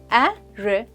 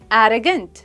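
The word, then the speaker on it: arrogant: pronunciation को समझते हैं यह है थ्री सिलेबल वर्ड और हम ए इस सिलेबल पर स्ट्रेस देते हैं यह है एर गट एरोगेंट एरो नहीं एरोगेंट I hope you गट इट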